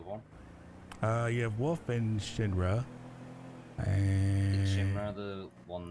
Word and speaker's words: Shinra: You have Wolf and Shinra.